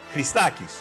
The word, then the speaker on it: Christakis: How do you pronounce it in the homeland? Christakis, Nikos Christakis.